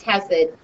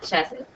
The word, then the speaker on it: Hesed: today is Hesed, and it's pronounced Hesed, not Chesed.